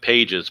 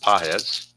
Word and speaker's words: Pages: So Edund grounds out and that's going to send up Andy Pahz. I know it looks like pages but it's pronounced PZ 116.